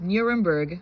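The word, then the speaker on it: Nürnberg: It's Nuremberg, but in German they say Nuremberg.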